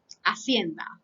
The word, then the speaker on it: hacienda: So, for example, we say in Spanish, hacienda. That means a farm, okay? So, in that case, the ate is silent, silent, okay?